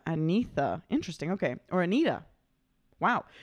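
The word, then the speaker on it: Agnetha: fresh today blonde's singer's name is Agatha oh pronounced oh antha antha interesting okay or Anita wow okay blonde singer's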